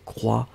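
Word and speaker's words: croient: E-N-T n'est pas prononcé, donc il croit au pluriel.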